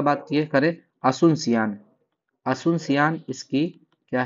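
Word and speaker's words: Asunción: peso currency है पेशो पराग्व का बात करें असुनसियान असुनसियान इसकी क्या है कैपिटल है ए एस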